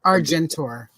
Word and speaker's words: Argentor: I really like, and I know this is one of the future slides, but the Argentina is that how you spell it? Argentor? Argentor.